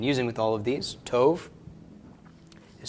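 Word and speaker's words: טוב: adjectives I've been using with all of these Tove is spelled Tait Kalam Bob with colum and then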